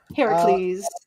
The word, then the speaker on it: Heracles: His name is Hercuad. Heracles. We have been saying his name wrong.